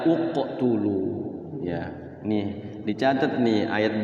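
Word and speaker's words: اقتلوا: giib juga ya iqtulu aktulu Apa utulu benar kalau diwkan b kalau diwal mubinulu Ya tapi kalau dimulai dari e awal Bacanya adalah uqtulu ya nih dicatat nih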